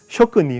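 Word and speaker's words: 続日本紀: 그런 얘기가 어디서 나면 쇼크니 이건 조크라고 읽으면 안 돼요. 쇼크라고 읽 쇼크니예요.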